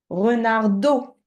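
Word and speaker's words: renardeau: Renardo. Do. Oui, Do. do. Comme quand tu dis ça, tu dis de l'eau, eau.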